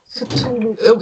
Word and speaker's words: Cthulhu: Cthulhu. We say Cthulhu in Germany. So, yeah, I always call it Stulu because I'm so bad at spelling at that.